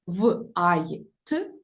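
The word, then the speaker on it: white: лише той випадок опрацьовувати коли H не читається тобто в цьому буквосполученні читаємо лише звук в в ітак в от в е р в а й т Вайт що were Day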